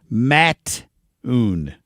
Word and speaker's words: Mattoon: it's Mattoon. Mattoon is how he spelled it phonetically here.